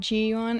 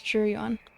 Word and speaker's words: Jiyuan: She said Jiyuan, it's Jiyuan.